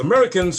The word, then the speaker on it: Merikins: they call themselves the americans but because of their native languages from africa they pronounce the word without sounding the a in american pronouncing it instead as